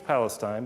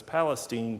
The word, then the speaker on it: Palestine: born in Palestine and spelled the same as Palestine but it's Palestine Texas in East Texas and she